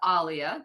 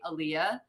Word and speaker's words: Alia: It's actually pronounced Alia. That is Okay. the correct way, but it's just been easier as a child, like growing up, for people to just say Aaliyah.